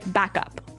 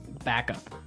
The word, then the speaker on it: backup: point out that here the pronunciation and stress of this phrase is really important hey yes yes you have to say backup Backup backup yeah so both words are stressed at about the same level hey mhm backup cuz